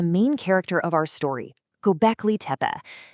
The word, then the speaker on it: Göbekli: So, let me introduce you to the main character of our story, Gobeci. And that's pronounced Gobeci.